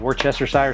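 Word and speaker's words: Worcestershire: The very first thing we do is we I have a bottle of Worchester sire sauce. That's how you say it.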